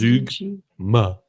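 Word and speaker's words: zeugma: No, well, it's Z-E-U-G-M-A. Oh, G. And the pronunciation is Zugma.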